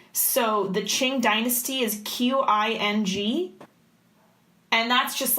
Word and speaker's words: Qing: I also want to say, by the way, just as a qualifier, everything here is not pronounced how it's spelled. So the Qing dynasty is Qing.